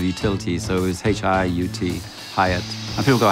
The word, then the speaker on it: Hiut: so it was H-I-U-T, Hieatt. And people go, how do you say it? I'm going, how do you want to say it? You can say Hieatt, Hieatt, who gives a shit?